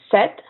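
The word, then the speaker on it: sept: set the PA filin so you only pronounce the T set seven this and in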